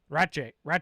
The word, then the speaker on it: Ratje: like 100 times, like, how do you say it? And he's like, Ratje.